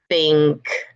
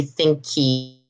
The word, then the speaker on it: think: Talk, think. It's just the K coming from the throat. And think. You're not going to say thinky, thinky. There's no vowel in the end.